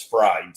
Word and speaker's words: Fried: So it's just like Kentucky Fried Chicken. It's totally totally fried. Which a lot of people pronounce it fray, but it's fried.